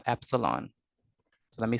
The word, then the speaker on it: epsilon: We call this letter, this Greek letter, epsilon. So let me spell it for you. So we call this epsilon.